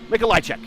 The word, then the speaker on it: Michichek: Michichek is how you actually say his name, but he just says, "Call me Paul many letters."